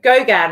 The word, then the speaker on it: Gauguin: Okay, so Gauguin is how you say that artist's name.